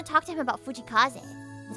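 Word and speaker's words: 藤井風: Like, honestly, it's not Fujikaze. It's like Fujikaze. Or something like that.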